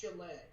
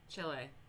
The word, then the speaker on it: Chile: It's pronounced Chile. Chile. Whatever. I don't fucking know. I do it really like Americanized sometimes.